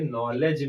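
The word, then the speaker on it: knowledge: जिस प्रकार से नॉलेज में के साइलेंट रहता है, उसी प्रकार से हावर में एच साइलेंट रहता है।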